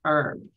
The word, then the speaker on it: herb: Now in the United States, we do not um pronounce the H. It's an it's herb.